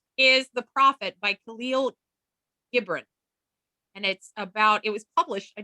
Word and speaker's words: Gibran: Gibran. Thank you. Yeah. I only had to look up one name on how to pronounce it, and I had to listen to it like 5 times.